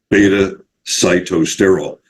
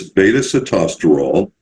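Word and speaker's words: beta-sitosterol: something called beta costero that's usually mispronounced by basically everybody uh and I hear them calling it beta cytool it's beta sitosterol in case you care I do care because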